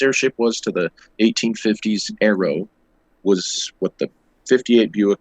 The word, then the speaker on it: Aero: of what the Sonora Aeros, and I say Aero, it's spelled AERO, like aeroplane and stuff.